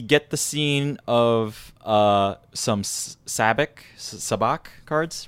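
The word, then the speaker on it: sabacc: the scene of some sabbaq sabbaq cards right it's very funny that you say that because it is pronounced SABIC and SABIC in the movie like they do they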